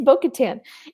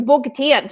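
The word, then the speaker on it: Bo-Katan: And the worst is when like the emphasis is on the last syllable.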